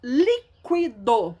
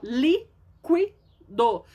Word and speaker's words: líquido: Líquido. Ó, líquido. A sílaba tônica é o li. Não é a última, não, nem é a penúltima. É a antepenúltima.